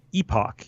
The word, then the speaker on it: epoch: NBA as we're gonna discuss the word epic kind of sounds like epic like grandiose big it's a unit of time I have always said epoch because it's both EPOC h and it's very much the classic I've only seen it in writing in graduate level textbooks ironically for like statistics but it's epic which means a unit